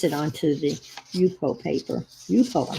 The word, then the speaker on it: Yupo: Yupo, I said it right.